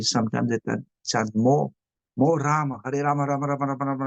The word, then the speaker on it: Rama: And sometimes we have the tendency to say Hare Ram, Hare Ram. But normally it's Rama, not Rama, but Rama, because there is 32 syllable.